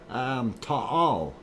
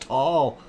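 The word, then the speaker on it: Taal: On that, you were pronouncing it correctly the first time, with the two separate A sounds. Thank you, Tropic Pose. Sorry, Ta'al. So that is the right way to say it. So the other person who said it's just tall is wrong. And that's what I thought. I thought it is two syllables, Ta'al.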